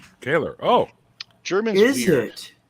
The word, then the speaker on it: Koehler: So for verification, it's actually pronounced Koehler. Koehler.